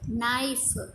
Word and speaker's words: knife: Next, knight, knife, king. So here K are the silent letters in knight and knife, and K is pronouncing in king.